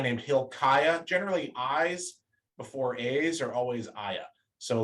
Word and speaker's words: Asa: And generally, at the beginning of Hebrew names, it's pronounced with a hard A, like a long A. So Asaph or Asa.